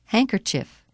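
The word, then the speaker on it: handkerchief: but it's so dirty the letter D is silent in the following words read them as you repeat them during the pauses Wednesday grandfather grandmother grandchildren hankerchief practice in context Now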